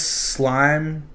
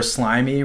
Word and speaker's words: Slyme: It's Slime or Slimy Records. You can pronounce it either way.